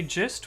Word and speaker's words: gist: Angus Miguel says, Anthorize code, do you say gist with a soft G or a hard G?